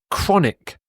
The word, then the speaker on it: chronic: before in this video chronic chronic just to confuse you the CH here has a hard C Sound chronic as does